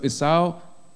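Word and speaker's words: Esau: it's how and Jacob so it's how that's how you pronounce it in English so it's AO was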